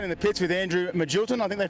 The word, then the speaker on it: Magilton: Down in the pits with Andrew Magilton, I think they pronounce it, is that correct? Yes, that's I always said Magleton, but I've been told it's Magilton.